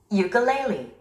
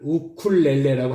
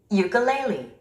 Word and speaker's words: ukulele: Ukulele. Ukulele. Ukulele. Ukulele. Ukulele. 레 스트레스가 있죠. 3음절의 스트레스가 있습니다. Ukulele. Ukulele. 우리 한국 사람은 이 단어를 우쿨렐레라고 합니다.